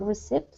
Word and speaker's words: receipt: read receipt okay so this word um is is not pronounced with the p anytime any time there is a a b or a p before a t there's these are not pronounced so a read a